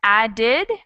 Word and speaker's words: added: tea and something like added where we add a whole extra syllable we have added added and liked so for the first one just one syllable and the second one is two syllables does everyone see and